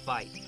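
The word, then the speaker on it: wyd: got their name from an Afrikaans word for why that's pronounced fight a little misunderstanding and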